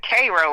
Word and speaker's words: Cairo: It's actually they pronounce it Cro like the ser. Okay, there you go. Yeah. Uh so yeah. Um yeah, I'm from Cairo.